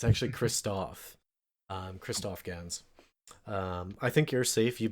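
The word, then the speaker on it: Christophe Gans: it's that the director, and I believe I've mispronounced his name several times, it's actually Christoph Gans.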